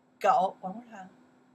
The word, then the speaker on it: 狗: This one pronounced what? 狗 you're right. 狗 one more time.